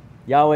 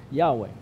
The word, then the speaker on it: Yahweh: has a name yahweh yahweh is perhaps the closest guess for how to pronounce something in hebrew that is a series of consonants it's a name considered